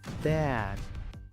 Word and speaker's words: dad: La D no se pronuncia como una T. Casi no hace un sonido. La D se usa para parar el escape de aire. Dad.